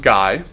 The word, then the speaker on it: Gay: Gay-Lussac is another French, and it is pronounced Guy, who looked at pressure and temperature relationships and found, not surprisingly, you increase the temperature, you increase the pressure.